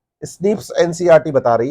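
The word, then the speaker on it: SNP: single base DNA difference S एन P single nucleotide पॉलीमोर्फस pronounce as स्निप्स occur in the human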